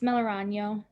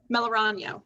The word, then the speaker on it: Melorano: senator mellorogno here and am i saying your last name correctly close correct me it's melorano melorano okay good to know uh